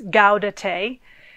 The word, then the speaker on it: Gaudete: And today is also, there's a special word which I had to remind myself how to pronounce. It's Gaudete, which Gaudete, the Latin word, means rejoice.